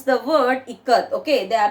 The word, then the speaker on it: ikat: They are pronouncing it as ikat, like that. Now children, okay, teacher understood the children and immediately she gave the pronunciation as how. Now Janaki teacher said it is pronounced I as in it.